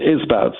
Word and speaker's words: Isbouts: That's Isbouts. Isbouts. Okay, exactly as it sounds.